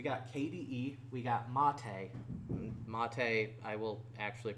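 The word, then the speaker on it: MATE: got no we got KDE we got Monta Monta I will actually pronounce the way that they wanted to be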